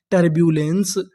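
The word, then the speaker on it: turbulence: हम लोग इ से पहले तक का उच्चारण करते हैं। तो हमारी पूरी मीनिंग क्या बनी? टरब्यूलेंस। टर्बुलेंस।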